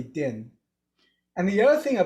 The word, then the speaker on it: Dinh: like my name is din and it's a very simple name to say dim but i cannot tell you how many times people have missed it even though it's written very clearly din and the other thing